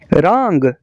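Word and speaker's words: wrong: का के साइलेंट है रंग रांग का मतलब है गलत रांग का डब्लू खामोश है राइट राइट का मतलब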